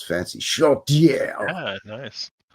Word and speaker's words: Chaudière: Chaudière. Yeah, nice. Sounds like a French guy saying chowder. Chaudière. Anyway, Chaudière.